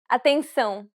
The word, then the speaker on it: atenção: Atenção. Did you pronounce the diphthong correctly? We covered this sound in Lesson 7. Remember, since it's a nasal diphthong, you should pronounce it through the nose.